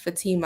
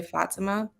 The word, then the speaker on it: Fatima: I would add and my name is pronounced Fatima I know some people say Fatima which is fine but I pronounce it Fatima okay Fatima thank you